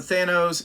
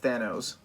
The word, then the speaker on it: Thanos: the earlier appearances of Thanos Thanos Thanos however you want to pronounce it I pronounce that they knows cuz I'm an idiot